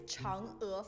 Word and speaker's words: Chang'e: Pronounce it, please. Is a planned orbit. It's Chang'e 4.